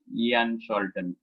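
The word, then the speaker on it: Jan Scholten: A very popular name in this is Ian Sholton, though it is spelled as a J.A. The actual proper name is Ian Sholton.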